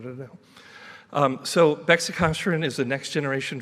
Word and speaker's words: Bexicaserin: bit about our compound it actually is pronounced beicin so just in case you really wanted to know um so beicin is the next Generation